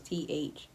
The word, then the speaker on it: Thalia: Like it has an H in it, so it's Thalia.